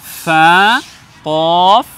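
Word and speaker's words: فاء: ভেজা অংশ থেকে লাগিয়ে উচ্চারণ করতে হবে ফা এরপরের বর্ণ হলো এখানে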